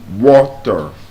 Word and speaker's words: water: very simple now the correct pronunciation listen is water there's a t sound however the reason some